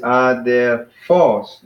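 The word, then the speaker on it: ἀδελφός: So we got 3 syllables, but the accent is on the last one. So it's just adelphos, and then we emphasize the last one, so adelphos.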